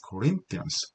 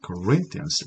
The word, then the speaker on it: Corinthians: Corinthians, TH 사운드는요, 일명 번데기 발음이라고 하는 TH 사운드, 고맙습니다 할 때, 고마워할 때, thanks 할 때 이 사운드가 되겠죠. TH 번데기 발음. 그래서 Corinthians, 강세는 Corinthians, rain이 있죠.